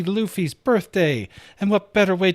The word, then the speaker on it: Luffy: But what you might not know is how to pronounce his name. It's Luffy.